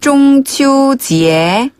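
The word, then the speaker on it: 中秋节: 밑에서 위로 부드럽게 올라가는 음으로 지혜. 지혜. 그래서 중추절은 중치오지혜. 중치오지혜. 중치오지혜.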